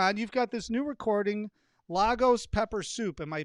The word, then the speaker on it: Lagos: glad you're on you've got this new recording lagos pepper soup am i pronouncing that correctly that's right legos pepper soup